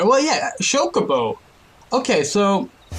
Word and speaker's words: Chocobo: Okay, so I forget if I pronounced it Chocobo from the start, or I might have, but I know for a fact that a friend insisted that it was Kokobo. Kokobo, not Chocobo.